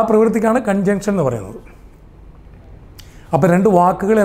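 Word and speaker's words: conjunction: ഉച്ചാരണം കൺജങ്ഷൻ ആണ്, കൺജക്ഷൻ അല്ല. ഇവിടെ ജക്ഷനാണ്.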